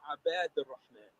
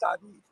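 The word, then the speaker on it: عباد الرحمن: It says, "Humma abad ar-Rahman." Not Abid.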